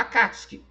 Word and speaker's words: Akatsuki: sabe muito bem que o U nessa situação é mudo, então é Sasuke, né? Escreveu lá com U, mas o U não é igual a Akatsuki, né? Tá escrito Akatsuki, tá escrito S-U, mas a gente fala Akatsuki, né?